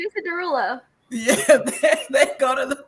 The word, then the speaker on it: Derulo: It's Jason Derulo.